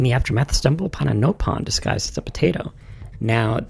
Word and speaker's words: Nopon: Prone, and in the aftermath stumble upon a Nopon disguised as a potato. Now, this game, since it was dubbed by NOA instead of NOE, we get a different pronunciation for Nopon versus Napon.